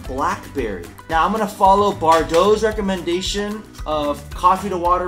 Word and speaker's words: Bardot: are we making today I got Bardo coffee our dough not Bardock Bardo Ethiopia I don't know how